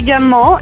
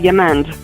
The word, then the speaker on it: Gamand: Gamand is the French pronunciation, but you can call me Gamand, and I'll be fine with that.